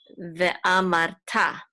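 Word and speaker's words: וְאָמַרְתָּ: And this is an aleph with a kamatz, which says ve'ah. This is a mem with a patach, which says ma. And this resh has a silent shiva, so this resh is going to be part of this syllable, so it's mar. Ve'amar, and this is a tav with a kamatz, which says ta. Ve'amarta, ve'amarta.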